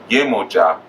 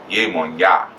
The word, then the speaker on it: Yemoja: So instead of Yemoja, they say Yemonya.